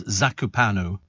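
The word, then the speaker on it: Zakopane: is by the way my pronunciation was so bad it's zakupan zakup panu that was the place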